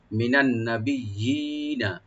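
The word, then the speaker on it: مِنَ النَّبِيِّينَ: আর এখানে মাঝখানে যে ইয়া আছে, ইয়াটা এটা ডাবল ইয়া, দুইবার করে আমরা টেনে পড়বো এখানে, একটু টেনে পড়বো যেন দুইটা ইয়ে উচ্চারণ হয়। মিনান নবিয়িনা, মিনান নবিয়িনা, নুনের লাস্টে কোনো টান নাই, মিনান নবিয়িনা, ওয়াসিদ্দিকিনা, ওয়াসিদ্দিকিনা,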